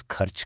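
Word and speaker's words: खर्च: To spend is kharch karna. Kharch karna. Notice that kharch sound? It comes right from the back of the throat.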